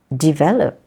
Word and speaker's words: develop: is words like develop develop the stress is in the first syab develop or determine it's determine